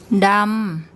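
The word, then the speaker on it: ดำ: Dam, dam, dam. And that's the Thai word for black. So we have a mid-class initial consonant, and it's a live syllable, so we get a mid-tone.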